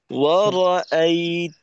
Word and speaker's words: ورأيت: তো এখানে ওয়া র আই, ওয়া র আই, তো এখানে যেন ওয়ার আই এমন না হয়, অর্থাৎ র এর জবরের উচ্চারণটা জজমের মতো না হয়, ক্লিয়ার করতে হবে প্রত্যেকটা উচ্চারণকে।